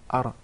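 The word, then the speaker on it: ر: There is a repetition of the ra. He actually pronounced several ra's. We just want one ra.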